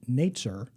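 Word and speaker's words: נצר: for the branch is the Hebrew word Nate sir for for Brants and nature in Hebrew sounds like the word for Nazarene in Isaiah 11 it's a word play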